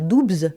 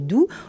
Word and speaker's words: Doubs: On ne dit donc pas Doubs, mais bien Doubs. Le Haut-Doubs est situé dans le département du Doubs. Le Haut-Doubs est situé dans le département du Doubs, au cœur des montagnes